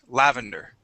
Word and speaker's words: lavender: okay this word is lavender stress at the beginning lavender uh lavender nice job